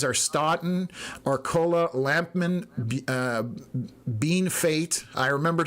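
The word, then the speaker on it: Bienfait: Uh localities are Stotten, Arcola, Lampman, uh Bean Fate. I remembered how to pronounce that.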